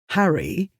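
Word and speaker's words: Harray: He lives in an area near the Loch of Harry, spelled A-Y but pronounced Harry, so he calls himself the Harry Potter.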